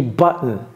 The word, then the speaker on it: button: j'ai pas dit bton j'ai pas dit bton j'ai dit button button on va faire un